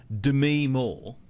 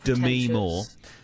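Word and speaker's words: Demi Moore: name correctly because apparently this is how you pronounce It Dem Mo it's not Demi it's Dem Mo Demi Mo um she's an aging actress and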